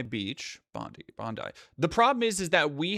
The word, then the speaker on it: Bondi: For months before today's mass killing on Sydney's Bondi Beach, Bondi.